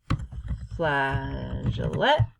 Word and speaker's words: flageolet: So I Googled, I said, pronounce flageolet.